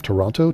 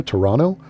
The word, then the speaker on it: Toronto: And apparently you're not supposed to pronounce the second T of Toronto. Toronto.